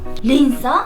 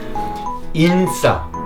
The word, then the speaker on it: 인싸: 린싸? 아니요 인싸. 예 이거 영어라서 발음 잘하셔야 돼요. 인싸.